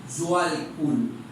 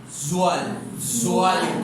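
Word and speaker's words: Djwal Khul: Este libro realmente lo pasa el maestro Zhual Kul. Es importante, ¿cómo lo vamos a pronunciar? Zhual Kul. Hay que hacer ese esfuerzo de TJ que es complejo.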